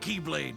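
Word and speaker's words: χ-blade: IT'S JUST PRONOUNCED LIKE keyblade even though it's just one keyblade.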